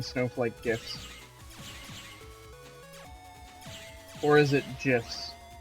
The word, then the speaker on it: GIF: Or is it GIFs? It's only GIFs if you want to piss people off. I think it's pronounced Gifs. Ah, yes. I've also heard it pronounced Geefs. You must have the Geef.